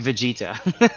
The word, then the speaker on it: Vegeta: as well yeah free afraid not okay it's pronounced vegeta whatever well yeah okay if i watched it